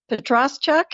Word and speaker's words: Petroschuk: in the Ukraine but he said petruk and that's what I've gone with so well that's what